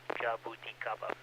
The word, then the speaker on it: Jabuticaba: It's called Jabuticaba, and that's spelled Juliet Alpha, Bravo Uniform, Tango India, Charlie Alpha, Bravo Alpha, Jabuticaba.